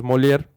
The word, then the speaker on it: Molière: Es que lo corrige porque está rompiendo un libro de Molière y él lo pronuncia de otra manera y ella le dice, no, pues es Molière.